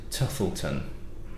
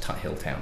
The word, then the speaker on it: Tuthilltown: So, Hudson Baby Bourbon, saying it yet again, is from a distillery called, now I'm going to pronounce it Tuthilton, but it's spelled Tuthilltown, so it might be pronounced Tuthilltown as well, distillery.